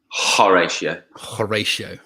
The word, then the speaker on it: Horatio: Horatio. I didn't actually. Did I say it right? You did. I'm just checking. Kieran, made a note of it. Yeah. Horatio.